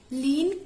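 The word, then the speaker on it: Kleene: Next हमारे पास क्या है, लीन क्लोजर ऑपरेटर। के साइलेंट होता है, हम लीन बोलते हैं, लीन क्लोजर ऑपरेटर।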